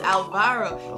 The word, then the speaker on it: Alvaro: Yes, Alvaro.